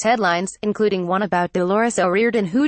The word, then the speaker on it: O'Riordan: right today said another the surname is traditionally pronounced as one flowing word with the O being said like an E however Louise continued to say the name as if it were two separate words The Cranberries front woman